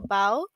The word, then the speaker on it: bow: over and took a bow. Now in this sentence, bow rhymes with how. The girl tied a bow in her hair. So you can see that in this sentence, the bow rhymes with low.